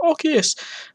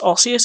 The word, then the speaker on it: osseous: day 21 osseous um which i realize i have been pronouncing wrong i was like obvious um but no it's osseous apparently or rosius and this was a